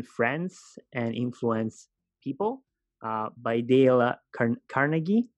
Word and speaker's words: Dale Carnegie: how to win friends and influence people by Dale Carnegie right that's the way you pronounce it now I've read this some time